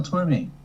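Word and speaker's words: Tormé: helps with the answer there is an accent on the E of Tor oh yeah this is a one of my favorite most beautiful songs it's the Christmas song written by Mel Tor me that is correct how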